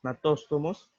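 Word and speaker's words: gnatóstomos: La superclase agnatos, la superclase natóstomos, la G no se pronuncia aquí, y la superclase tetrápodos.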